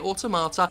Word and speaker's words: Automata: Few games are able to showcase the power of the medium like Nier Automata, and that's how you say it, Automata.